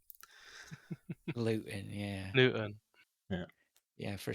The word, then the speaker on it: Luton: Well, it's correct to obviously leave the pronunciation of T's out of anything regarding Luton. Luton, yeah.